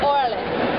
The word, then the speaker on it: Orales: How do you pronounce the name of this place? Orales.